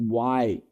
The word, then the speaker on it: Y: Funciona de igual modo com a letra Y, que em inglês se pronuncia y why.